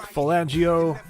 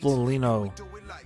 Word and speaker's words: Foligno: Nick Falangio gets the freaking goal on the power play. Oh my goodness gracious. Another tip in. Nick Foligno, pardon me, I've been saying it wrong. Nick Foligno.